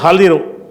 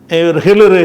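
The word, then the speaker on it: خضر: சலாம் சொன்ன உடனே க்கலல் ஹலிரு அவர் நம்மஹிர்றாங்கல்ல ஹிலிர்ங்கறது வந்து அது சரியான உச்சரிப்பு கிடையாது. அவருடைய பேர் வந்து ஹலிர் ஹலிர் என்பத வந்து என்ன செய்றாங்க நம்ம ஆளுக வந்து ஹிளர் ஹிளர் நபிங்கிறாங்கல்ல ஒருத்தன் ஹீனா போட்டு ஹிளர்ங்கிறான்.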